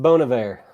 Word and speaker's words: Bon Iver: I believe it's pronounced Bon Iver.